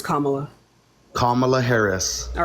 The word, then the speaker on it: Kamala: Trump nope voting for cam that's not you pronounced her name it's kamla let's go on next